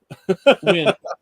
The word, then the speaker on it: Nguyen: His name is Moses Nguyen. Win. It's pronounced Win.